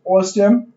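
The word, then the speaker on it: OSSTMM: Open source security testing methodology manual, pronounced OSM, security testing analysis for better operational security, right?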